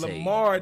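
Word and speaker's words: Lahmard: Lamar Tate. Yes, sir. The H is silent.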